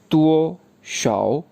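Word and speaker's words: 多少: इसके बाद दूसरा वर्ड है DUOSHAO तुओ शाओ तुओ शाओ तुओ शाओ तुओ शाओ।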